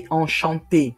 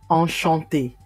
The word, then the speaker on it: enchanté: If you are a male, just say enchanté with one E. The same pronunciation, but different spelling. Enchanté.